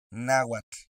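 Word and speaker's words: náhuatl: La terminación TL hace que tu lengua toque el paladar.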